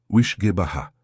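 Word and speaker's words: uisge beatha: A pronúncia é suave, sussurrada. Wishgebaha.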